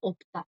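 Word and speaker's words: 없다: Pero sin conjugar, el verbo no tener es el verbo opta. No obsta, opta.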